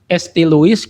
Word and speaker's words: St. Louis: Terus soal tadi ST Luis gitu kan dibacanya St. Louis Santo kan gitu. Memang dia dari Prancis. Louis seharusnya kalau dibaca bahasa Prancis tapi Luis karena Amerika.